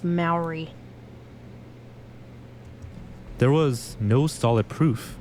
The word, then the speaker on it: Mowry: Despite mentions of its existence, It's pronounced Maori.